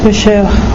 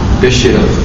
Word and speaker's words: pêcheur: Em francês, como é que se pronuncia pescador? Pêcheur. Pêcheur.